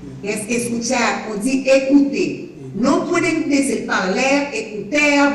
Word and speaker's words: écouter: On dit écouter. No pueden decir parler, écouter, marcher, chanter. No. La ER suena como E, boca abierta.